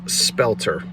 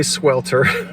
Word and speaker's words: spelter: talk about the metal this is spelter I didn't say swelter but it is 98°